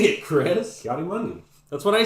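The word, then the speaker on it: Ki-Adi-Mundi: Kiadi Mundi.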